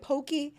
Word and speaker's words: Poke: Poke works.